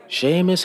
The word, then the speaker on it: Seamus: In my defense, when I said his name wrong before, I was really drunk. Seamus has been around since the rift opened for